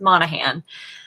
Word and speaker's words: Monahan: pronunciations i've heard for my last name which is pronounced monahan um has been so